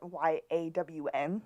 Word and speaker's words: Jan: Yeah, I called him Jan, and when I spelled Jan in my notes, I spelled it Y-A-W-N so I would know how to pronounce it.